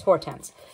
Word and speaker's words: Hortense: And so far, up to page 89, we've basically gotten Hortense's, is that her name? Let me make sure I'm pronouncing that correctly. Yes, Hortense.